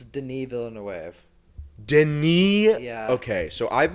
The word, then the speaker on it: Denis Villeneuve: Dennis Villanueva. Yeah. Is that how you pronounce his name?